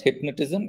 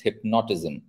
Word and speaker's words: hypnotism: It's not hypnotism, it's hypnotism.